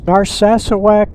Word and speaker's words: Narsarsuaq: Some of you hear them pronounce it Narsarsuaq, and they don't get one of the R's in there, and sometimes they don't get the final K in there. But the way I heard it was Narsarsuaq and Reykjavik.